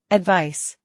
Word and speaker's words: advice: advice, 충고. 조언. advice, advice, 충고하다. 조언하다. advise, 충고하다. 조언하다. advise, advise, 충고, 조언은 명사로 advice라고 하고 충고하다, 조언하다는 동사로 발음이 advise입니다. advice, advise 기억해 주세요.